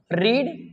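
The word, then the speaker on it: read: डी आई एन जी रीड रीड रीड रीड रेड रीड होता रेड कहा जाता है इसको लेकिन स्पेलिंग में कोई करेक्शन नहीं होता सेम ही रहती है ठीक है खेलना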